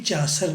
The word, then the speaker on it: Chaucer: चासर, right pronunciation चासर है. मैं आज तक चासर बोलता था, लोग चौसर बोलते थे. मैं कहता पता नहीं, मैं चासर ही बोलता हूँ. आप इसे मेरी सुन्नत समझ के चासर बोला करें. आज डिक्शनरी भी इसे चासर प्रोनाउंस कर रही है.